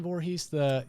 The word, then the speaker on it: Voorhees: Did I say it right, Voorhees? You did. Okay. Nailed it. Even though I dropped an O accidentally on the first time I Two O's. Two O's, yeah.